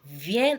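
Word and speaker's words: viens: from with do now let's move on Jo ven ven that's ven is spelled as v i e n s v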